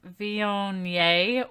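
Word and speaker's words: Viognier: I am drinking a Vionnet which I did have to Google how to say that because it's spelled VI OG and i ER but very explicitly said on the internet Z on yay so that's how I'm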